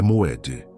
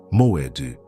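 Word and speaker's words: מועד: o que te trouxe até esta sexta-feira, é Moed. Pronuncia comigo em voz baixa. Moed. Moed não significa apenas tempo, significa encontro marcado, tempo designado, hora apontada.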